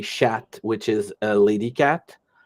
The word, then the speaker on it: chat: so is c-h-a-t but you don't pronounce the T when it's a guy but you pronounce the